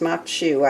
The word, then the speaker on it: maque choux: while i make them while i make the muk shoe makshu is spelled m-a-q-u-e-c-h-o-u-x and it is pronounced machu i did find that out in my research